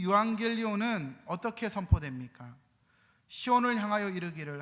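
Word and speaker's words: εὐαγγέλιον: 그리고 복음이란 단어는 유앙겔리온입니다. 한번 따라합시다. 유앙겔리온. 발음이 아주 좋습니다. 유앙겔리온. 혀를 너무 이렇게 안 굴리시면서 잘하고 계십니다.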